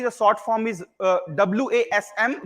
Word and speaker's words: WASM: sort form is uh wasm which is pronounced as vasm so Blazer vasm SQL